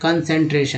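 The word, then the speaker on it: concentration: तो अब देखिए CUN को जो है कन बोलते हैं, ये शुरू में मिलता है तो कन, ये सन। बीच में 3 ही तो पढ़ना है। जैसे EN को एन बोलते हैं, सी लगा तो सेन हो गया, TR को ट्रे बोलेंगे तो कंसंट्रेशन।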